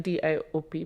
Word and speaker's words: Diop: D-I-O-P, pronounced Diop.